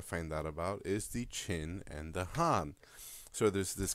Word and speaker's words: Qin: and the Han and even though it's spelled with a Q it's pronounced chin and that is where